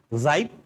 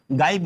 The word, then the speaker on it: gibe: सबसे पहला शब्द था जाइब। जाइब, इसका जो प्रोनाउंसिएशन है जाइब है, जाइब, ठीक है। इस चीज का ध्यान रखिएगा, गाइब मत बोलिएगा, जाइब बोलिएगा।